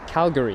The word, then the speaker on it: Calgary: or I can never say it properly it's Calgary that's it it's a 7 hour 49 minute long journey on board the 7879 Dreamliner with the red charlie foxtrot golf Echo India or cfgei so what Calgary is where it's arriving from then we've got